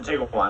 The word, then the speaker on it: Tiguan: You don't pronounce the U. It's a Tiguan.